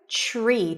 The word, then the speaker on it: tree: Tree. TR together turn into a ch sound.